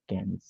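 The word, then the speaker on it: quinze: ক্যান্স, Bravo, এটা এখন হয়ে গেছে ক্যান্স, এটা সাউন্ড হচ্ছে ক্যান্স, not queen's, ক্যান্স, ফাইন।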